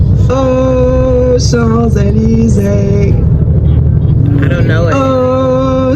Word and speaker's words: Champs-Élysées: There's an S that you don't pronounce. When you link it together, you pronounce it. So instead of Champs-Élysées, we say, yes, Champs-Élysées.